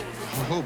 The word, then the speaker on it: jojoba: typical pitch no The The J is pronounced H as Jehovah the reason that it's pronounced Jehovah is jojoba is because of the